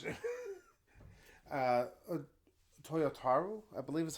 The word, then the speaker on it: Toyotaro: If I'm mistaken, the art, I can't pronounce it. Toyotaro, I believe is how it's pronounced.